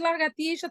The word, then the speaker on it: lagartixa: vai dizer miche e lagartixa tem o mesmo som. Porque o X aqui, nos dois casos, tem som de o que, gente? CH. Michas, lagartixas, tem som de CH, mas se escreve com X.